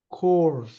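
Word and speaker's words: corps: 자는 도움을 받았다 콜 콜 콜은 CPS PS 발음을 안 해요 모음이 돼요 콜 집단이라는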